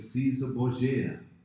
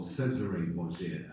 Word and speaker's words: Cesare Borgia: This is dealing with Caesar Borgia, or Cesare Borgia, as it's pronounced in the Italian.